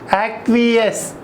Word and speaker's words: acquiesce: A-C-Q-U-I-E-S-C-E. So remember A-C-Q-U-I, acqui, you can easily remember. And both sides E in between, S-C will be there. E-S-C-E. Pronunciation is acquiesce, acquiesce.